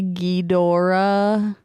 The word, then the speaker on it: Ghidorah: Brett, You said it wrong. You're supposed to say Ghidorah.